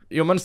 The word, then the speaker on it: HMNS: ya di situ aja Humans offline Store hmns offline Store HS offline Store coba offline Store dulu ada yang bilang sama gua tuh hmns tuh katanya bacanya haru manis kat Bro Har manis